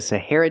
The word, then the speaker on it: Sahara: That's right, the Sahara Desert is a big desert. Pronunciation, Sahara. The stress is on the second syllable, hair, and it sounds like this, hair.